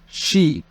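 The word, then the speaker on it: し: رقم 4 شي. وممكن أقول يون.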